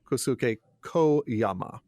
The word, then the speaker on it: Kosuke Koyama: I'm going to say it wrong because that's how I've been saying it, by Kosuke Koyama. But I've been told that Japanese doesn't have open-ended vowels, so it's Kosuke Koyama.